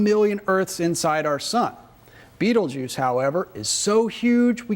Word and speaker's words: Betelgeuse: giant orion hunter and its name is beetlejuice which most people pronounce beetlejuice and if you've ever